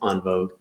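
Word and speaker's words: en vogue: it's all one word gems and vogue which is pronounced on vogue as my french speaking wife tells me um so we're going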